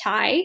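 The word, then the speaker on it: taille: new kind of tax called the tie that's how you pronounce that and what this is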